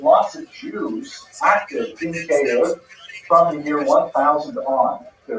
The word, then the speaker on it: Kyiv: But in Ukrainian, they have a slightly different vowel combination. The sounds are signed differently, and it is pronounced K-E. K-E. 2 syllables.